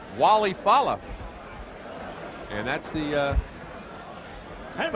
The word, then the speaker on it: Walle Falla: All right, well, Mark obviously taking the ethnic pronunciation, but he wants to be called Walle Falla.